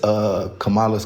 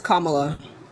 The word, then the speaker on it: Kamala: Oh, because I'm against Kamala's climate policy. It's Kamala. Well, how do you pronounce it? I just told you how. It's Kamala.